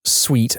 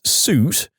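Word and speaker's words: suite: say the address again insisting I pronounce sweet as suit and not allowing me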